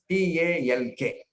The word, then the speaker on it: talk: got so much meaning take the word talk how do you pronounce this what is the spelling t a l k where silent that means when you are talking you are not listening this is the secret that is why it is silent let us compl let us complete this so this we have to understand very very carefully when you are t you will not be listening at all so L is silent similarly the word listen